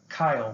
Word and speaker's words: chyle: especially the lymphocytes and fluid from our intestines called kyle which is spelled chyle and this contains proteins